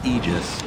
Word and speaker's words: Aegis: that's really important center the pronunciation of ages it's actually aegis right right like literally a definition you can look it up but icefrog messaged somebody at bts and said i don't want it pronounced that way so if that's i'm